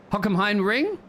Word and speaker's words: Hockenheimring: I normally call it Hocks for short, but obviously if you don't pronounce that H clearly, it sounds a bit like something else, so I will try and avoid that while we are sitting here on the broadcast.